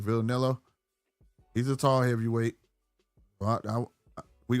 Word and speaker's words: Vianello: Vianello.